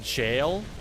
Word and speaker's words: gaol: Gaol is pronounced jail? Wait, are you serious? It's pronounced jail? I'm gonna keep calling it Gaol.